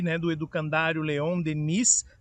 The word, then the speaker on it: Denis: do Edu Candário Leon Denise, tem esse S no final, mas por ser francês a gente pronuncia só Deni, do Candário Leão Deni.